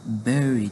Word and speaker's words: bury: مینینګ خو ده خښول خو تلفظ داسې ده bury بری نه ده دا bury ده word number 18 develop